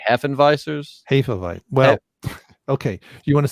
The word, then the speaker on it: Hefeweizen: Do you want to say it right or do you want to say it American? Say it right and then American. Okay, so it's Hefe. Mm-hmm. It's Hefe, Hefe, and then Weizen. So Weizen.